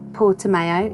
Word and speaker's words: Portimão: it and we learnt how to say it portimão in portugal is the gorgeous anchorage rip lefty